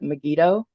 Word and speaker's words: Megiddo: away so um I don't know how to pronounce this is it megiddo all Meo perfect and then um lies of